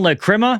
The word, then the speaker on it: Lachryma: So Ghost released their new song, Lachryma. I looked it up. That is how you pronounce it.